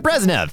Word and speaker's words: Brezhnev: I'm totally screwed up that pronunciation, but Brezhnev.